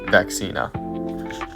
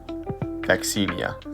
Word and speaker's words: Vaccinia: And then little fun fact down there, the word vaccination comes from the Latin word for cowpox vaccina. Vaccinia, sorry.